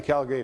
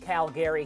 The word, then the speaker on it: Calgary: So I like the Calgary Flames coming out of that North Canadian division.